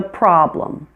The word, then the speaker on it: problem: And problem, the E is also a schwa. Problem, problem.